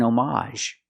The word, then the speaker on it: homage: n it was an homage it's more common to hear that pronunciation again the AG is silent but you have the a sound at the end it was an homage